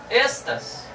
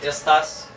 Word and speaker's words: estas: Então todas as palavras em Esperanto, exceto monossílabas, são paroxítonas. E aí entra... uma das regras do fundamento do Esperanto. Por isso que eu disse Kyo, não Kyu. Por isso que eu disse estas e não estás.